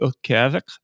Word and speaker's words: Utqiagvik: I say Utqiagvik, and that is Utqiagg with a dot above it, Vik.